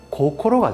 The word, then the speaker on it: 556: 556을 일본식으로 발음하면 고코로가 되죠.